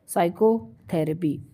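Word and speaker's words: psychotherapy: है ठीक 35 चच letter is silent in the word साइकोथेरेपी देखो अब साइकोथेरेपी में कौन सा वर्ड है जो साइलेंट होता है तो पी साइलेंट होता है पी नेक्स्ट है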